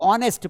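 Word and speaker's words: honest: क्योंकि H silent है क्योंकि एच के बाद ओ है तो एच के बाद अगर वोवेल लेटर है या साउंड है तो मुश्किल होता है उसका प्रोनंसिएशन निकालना तो ऑनेस्ट पढ़ेंगे इसको हावर नहीं पढ़ेंगे ये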